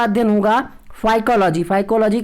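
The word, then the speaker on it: phycology: शैवालों का अध्ययन होगा साइकोलॉजी साइकोलॉजी की स्पेलिंग ध्यान से देखिएगा जैसे आप साइकोलॉजी पढ़ने हैं इस तरीके से यहां पे पीस साइलेंट राहत है पी हा ए ध्यान रखिएगा साइकोलॉजी इसको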